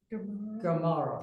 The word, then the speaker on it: Gemara: Is this all related to the Gemara and the other? That is Gemara. Gemara.